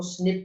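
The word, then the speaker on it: SNP: इसे कहते हैं बेटा सिंगल न्यूक्लियोटाइड पॉलीमॉर्फिज्म, जिसको स्निप के नाम से प्रोनाउंस करते हैं।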